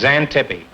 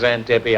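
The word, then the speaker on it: Xanthippe: No, it's Zantippi. and it's spelled X A N T I P E. And why it's pronounced Zantippy, I'll never know.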